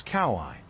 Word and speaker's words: Kawaii: In Hawaiian, each vowel is pronounced. None are silent. Native speakers tend to blend them together. For example, a plus u makes an a sound. If you say that quickly, it sounds like oh.